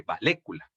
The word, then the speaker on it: vallécula: Que decíamos que realmente si nosotros pronunciásemos como deberíamos decirle valécula.